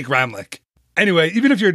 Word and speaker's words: Gramlich: name it's Gramlich we're I think the German pronunciation is like remlick program which I don't know we say Gramlich anyway even if you're